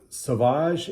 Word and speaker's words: Sauvage: about this ball of perfume carry okay so sauvage is a very very popular fragrance by christian